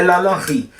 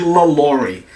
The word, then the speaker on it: LaLaurie: Eu fiquei puta por alguns motivos, porque a pronúncia, né, francesa é Lala Ri. Todos os vídeos que eu procurei na internet falando sobre essa mulher, as pessoas que usavam o sotaque inglês chamavam de LaLaurie, não de Lala Ri.